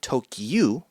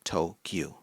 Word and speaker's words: Tokyu: 9, which is gyu, Tokyu. So you see, the numbers 10 and 9, if read in Japanese, sound like the name of the capital, Tokyo. Tokyu, Tokyo.